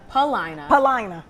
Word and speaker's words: Paulina: Paulina. You don't. They don't really pronounce. Most Chicagoans don't really get that U in there.